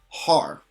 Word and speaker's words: har: So without the dash, this is pronounced ha, but when we put the dash, it becomes har.